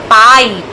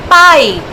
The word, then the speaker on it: pipe: So the pronunciation will be pipe. And E will be silent because it's a Magic E.